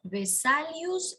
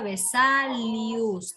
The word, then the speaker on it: Vesalius: de andreas de saludos vesalius es con v como le escucha vesalius tal como escucha con ese andreas termine